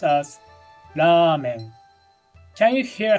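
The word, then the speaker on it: ラーメン: like Ramen Ramen is written like this and pronounced as Ramen can you hear how the V sound in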